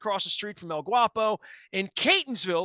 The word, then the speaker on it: Catonsville: from El Guapo in Catonsville, or Catonsville if you mispronounce it, over in the 21228, where life is great.